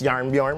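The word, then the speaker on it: Jarnbjorn: son back he gets his old axe yarn bjorn which is fun to say uh that's how you say it thor is fine don't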